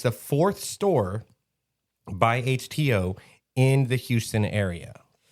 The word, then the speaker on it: HTeaO: It's called HTO, which is a play on words of like H2O, but instead of two, it's spelled TEA. So it's HTO.